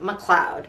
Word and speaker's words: McLeod: yeah Raymond RJ McLeod his name is spelled MCL capital l e o d but you say it like McLeod seems like all these